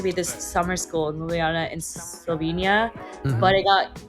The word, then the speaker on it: Ljubljana: little tidbit too is doing summer school in Ljubljana? Yeah, is that I pronounced it right? Well, yeah, Ljubljana. So Ljubljana.